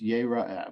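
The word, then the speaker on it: יֵרָאֶה: Yirah, because the word in the Torah is yera'ah, but it's spelled yir'ah, meaning is it a what's the term in English?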